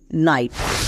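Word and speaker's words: knight: ঠিক পরে এন আছে, তার মানে কে প্রত্যেকটাতেই সাইলেন্ট থাকবে। যেমন নিউ, নি, নাইট।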